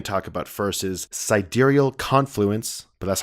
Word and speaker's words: sidereal: I say sidereal. I know. I did too at first, and I think a lot of people did. But then other videos I was watching for reviews, they pronounced it correctly, which is sidereal.